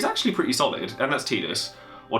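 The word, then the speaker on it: Tidus: him however he's actually pretty solid and that's tetus or Titus or however you want to pronounce it I'm pretty sure it's tus and I pronounce it wrong sometimes but he's a 9k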